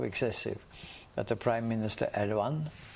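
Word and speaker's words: Erdoğan: that the prime minister erdogan the g is silent in Turkish it's I don't know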